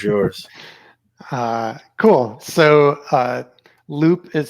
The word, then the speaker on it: Loupe: the floor is yours uh cool so uh loop is spelled l-o-u-p-e so if you search that on